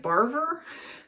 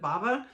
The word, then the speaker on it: Barver: And Barver, it looks like Barver, but the audiobook pronounced it Bava.